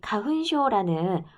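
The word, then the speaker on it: かふんしょう: 자, 일본에서는 코로나 이전에도 이 가훈쇼라는 꽃가루 알러지 이때 마스크를 쓴 사람들이 되게 많았어. 화분증인데 화분증이니까 일본식 발음으로는 가훈쇼.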